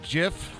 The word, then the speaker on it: GIF: working on some animated gif and they were like like Flubber people be so confused always decide the pronunciation is based on Words similarly spelled like them so uh GIF is pronounced like gift your logic is sound